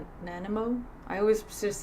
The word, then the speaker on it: Nanaimo: Chocolate, I don't know how to pronounce that. Nanaimo? Nanimo?